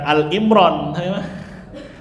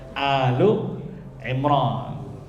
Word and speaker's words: Ali Imran: Kalau dalam surah Ali Imran ya itu alu bacanya bukan Al Imran. Alu Imran ya.